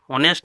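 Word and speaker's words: honest: ये 5वां नंबर देखिए टॉपिक है, उच्चारण स्वर ध्वनि से अगर हो, जैसे अ, आ, ई, जैसे ऑनेस्ट में एच साइलेंट है तो ऑनेस्ट ओ आया, तो इसके लिए यहाँ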